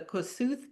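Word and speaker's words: Kossuth: So it's pronounced in English the Kosut County but it's named after Koshut los you know the man who has this incredible moselium in Budapest.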